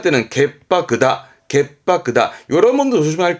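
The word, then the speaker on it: 潔白: 발음은 갯바크입니다. 츠 다음 때문에 바로 바뀝니다. 결백하다 할 때는 갯바크다.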